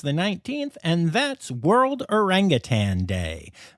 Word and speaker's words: orangutan: 19th and that's World orangutan day make sure you say it right and don't add that g folks then on the